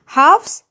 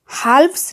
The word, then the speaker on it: halves: Halves, half का plural होता है। इस वर्ड में L साइलेंट होता है, इसलिए हम halves नहीं बोलते, halves बोलते हैं, जिसका मतलब होता है किसी एक पूरी चीज का आधा हिस्सा।